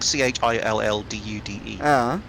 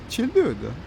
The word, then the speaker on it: Childude: If it's like CHILLDUDE, then it's chill, dude. Childude. Because it's two words, like chill.